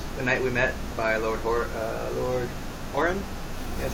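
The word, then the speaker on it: Lord Huron: So this one is called "The Night We Met" by Lord Horan.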